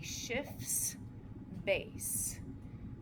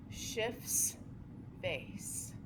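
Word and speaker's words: Schiff base: So this histadine can act as what's called a shifts base and that is spelled C sorry S c I FF apostrophe S shifts base and I think it sounds a lot like shift shifts base Maybe that's what you thought I said at first.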